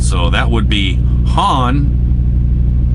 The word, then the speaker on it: Juan: Mike A from Texas says, hey Larry, FYI, any Spanish or Hispanic name like Juan, the J is pronounced with an H sound. So that would be Han, not Juan.